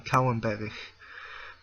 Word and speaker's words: Kouwenberg: Like my last name should be pronounced Kouwenberg with silent G.